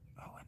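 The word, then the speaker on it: Owain: Owen is spelled o w a y or a i just like son.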